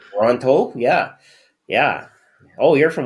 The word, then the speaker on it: Toronto: they have this problem pronunciating the letter T. So for them, it's Tirana. Really? Yep. Oh wow, that's So what can I say? must be a Canadian thing. It's a Tirana thing. Mhm. That's it, because you get one T even though there's two in the word. That's how they know if you don't belong there. Like because we pronounce it properly.